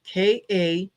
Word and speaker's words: Kamala: And it said big letters Kamala, and then underneath that it had KA-MA-LA. So sounding it out, Kamala, and underneath that it said, if it's too hard to pronounce, just say Madam President.